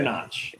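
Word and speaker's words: Knotch: Chester Notch. K is silent.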